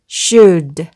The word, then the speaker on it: should: 그래서 should.